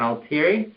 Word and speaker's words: Altieri: And you are the owner, John Altieri? Correct. Am I pronouncing that correctly?